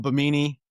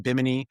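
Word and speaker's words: Bimini: Even president, I call him Bmeni. Um, but I know it's pronounced biminy.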